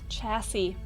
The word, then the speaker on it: chassis: Borrowed word from French. That makes sense. Those silent letters. Chassis.